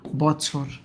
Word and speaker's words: বছর: এই যে বছর, বছর, এটার উচ্চারণটা কেমন? ব, তারপর আমরা করি ছোর, বছর।